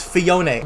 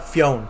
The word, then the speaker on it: Phione: And yes, it's Phione, not Phione.